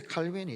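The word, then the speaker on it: Calvin: 참 중요한 문제입니다 종교개혁자 칼빈이 있죠 영어식 발음으로 칼빈이라 그러는데이 사람은 원래 프랑스 사람입니다 깔뱅이라고 하죠 깔뱅 그런데 고향이 프랑스에서는 굉장히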